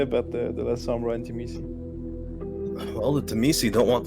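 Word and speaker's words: Tzimisce: Well, God, I'm gonna butcher these names now. That's all right. So Sombra and the what? The Terrace? Timisi. Timisi, Terrace-Misu, okay. Seriously. Anyway, them, the Teresi?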